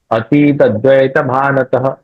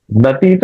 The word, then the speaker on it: अतीत: करेंगे अर्थन यहां रुकेंगे अतीत ऐसे करेंगे तीत नहीं करेंगे अनंद अतीत दतन हा